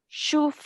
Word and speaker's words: شفعاؤنا: So just like we've been doing before, the hamza with the dhamma on top will be pronounced. Oo. Ooh. Noon with a fatha followed by an alif mad. Na. Na. Good. So we're giving this 2 counts, okay? So all together, just listen to me. شفعاؤنا.